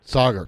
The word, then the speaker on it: Saagar: am i pronouncing your name correctly it's it's pronounced Sagar Sagar thanks for helping me out with that all